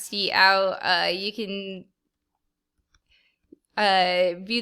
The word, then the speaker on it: cout: for right now um c out again pronounce c out uh you can uh